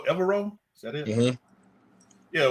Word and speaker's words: Evero: Is it pronounced Evero?